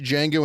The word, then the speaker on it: Django: All right, can't wait to watch Django Unchained. Django. It's spelled with a D.